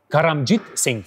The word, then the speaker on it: Karamjit Singh: is so strange so how we can pronounce your name karamjit karamjit Singh sing karamjit sing but my friends call